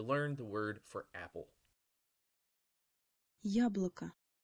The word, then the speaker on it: яблоко: be yob local but because the emphasis is on the first syllable of this word it becomes yeah blah